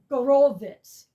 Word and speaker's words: Horowitz: This, um, so, it's the last, uh, recording and uh Vladimir Horowitz, I found out it's pronounced Vladimir Go- Gor- Gorowitz. Vladimir Gorowitz passed away right after this.